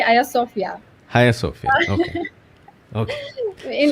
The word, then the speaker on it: Hagia Sophia: In Turkey, we say Hagia Sophia.